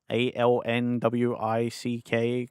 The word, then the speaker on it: Alnwick: They pronounce it Alnwick. The Northerners laughed at me constantly when I pronounced it Alnwick because that's how it's spelt, and I didn't hear anyone else say it yet. Yeah, the Northerners love it when you say it wrong.